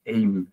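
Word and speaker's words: אם: Y vos nombraste a padre es Ab, en realidad la pronunciación es Abba, y madre, bueno, es Im, que es Eim la pronunciación, y la unión tanto de las palabras,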